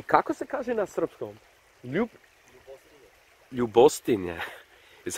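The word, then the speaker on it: Ljubostinja: Ljubostinje is how you say it, but isn't that beautiful, man?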